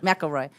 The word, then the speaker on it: McIlroy: McLemore? McIlroy.